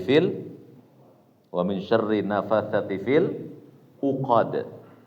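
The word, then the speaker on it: ٱلْعُقَدِ: Wamin syarr nafasati fil uqad jangan angqod ya Kalau engkot salah bacanya itu Pak enggak ada ikhfa di situ AD apa kata Allah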